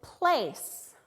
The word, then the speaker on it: place: Here I know the A is going to say its name because I have a vowel, consonant, plus E. This word is place.